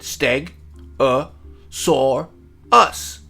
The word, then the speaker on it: Stegosaurus: How to say it, Steg-a-saur-us.